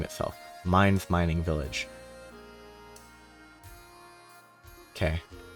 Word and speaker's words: Mainz: didn't actually name itself Minds mining Village okay apparently it's supposed to be pronounced minds and not mains which I mean I